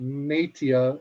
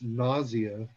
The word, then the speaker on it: Nausea: logo looks like but it's not nateia or naftia as it's spelled in greek it's nausea um not to be confused